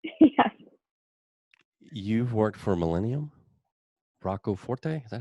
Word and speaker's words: Rocco Forte: You've worked for Millennium, Rocco Forte, is that how you say it?